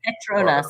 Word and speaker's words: Petronas: Is it spelled like P-E-T-R-N? Petronas, Petronas. Like petrol.